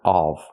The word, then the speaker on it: of: The word is pronounced of. We need a closed, relaxed sound of. The topic of. Example. This is the Statue of Liberty. Not the Statue of Liberty. Not the open sound of, but of, the closed sound.